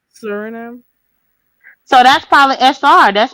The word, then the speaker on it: Suriname: Suriname. So that's probably SR. That's probably the abbreviation for that country. I bet Hmm. if I say Suriname, it's gonna sound country.